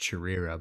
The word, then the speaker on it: Chirira: I believe his channel name is pronounced Chirira, by the way.